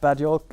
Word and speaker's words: Bad Yolk: from a bad pun the Swedes usually pronounce J with a Y sound the name bad joke came up and my reaction